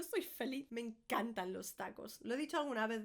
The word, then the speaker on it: tacos: Tacos, because tacos sometimes come with salsa as well. This is all very Mexican so far. Tacos. It's a short A.